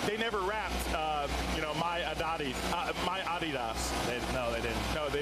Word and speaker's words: Adidas: I think it's Adidas. Yes, you're right.